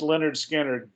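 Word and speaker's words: Lynyrd Skynyrd: Freedom by Uriah Heep pronounced Leonard Skinner you know like him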